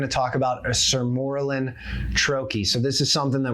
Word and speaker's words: troche: So a troy, and it's said a million different ways, and I get it. I'm from Pittsburgh. We regularly butcher the Queen's English. We just make things up, but technically you say it troy.